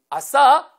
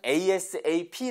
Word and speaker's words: ASAP: 되요 asap 보고 5 아싸 아싸 아니고요 ace 아니면 asap 라고 읽으셔야 됩니다 방법은 두 가지의 물론